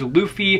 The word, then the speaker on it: Luffy: follows this boy named luffy which his name is luffy not luffy like i've been pronouncing it all this time gotta love when you've